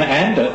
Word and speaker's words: Andert: And our final guest for this evening, Glenn Andert, he's at pains to point out that his name does actually rhyme with dirt.